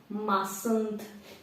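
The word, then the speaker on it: mustn't: над масонс зверніть увагу тут буква Т не читається масонд масон I mothand go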